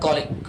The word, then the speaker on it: colleague: हम थोड़ा सा प्रोनाउंसिएशन डिफरेंस कर देते हैं इसका, इसको कलीग बोल देते हैं। प्रॉपर प्रोनाउंसिएशन स्केल होता है कॉलिक।